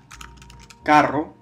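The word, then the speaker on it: carro: например у нас есть слово каро значит машина а ударение есть здесь но не пишется русские они думаю о а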